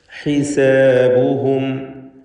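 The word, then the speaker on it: حسابهم: ഹിസാബുഹും. ഹാഇന് നേരത്തെ സൂചിപ്പിച്ച പോലെ അതിൻ്റെ ശരിയായ ഉച്ചാരണം നൽകുക. തൊണ്ടയുടെ മധ്യമാണ് മഖ്റജ്. ഹിസാബുഹും വഹും ഫീ ഗഫ്ലഹ്.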